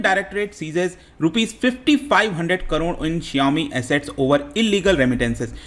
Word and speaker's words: Xiaomi: और इस कंपनी का नाम काफ़ी पॉपुलर है भारत में, आपने सुना होगा Xiaomi इसको प्रोनाउंस करते हैं।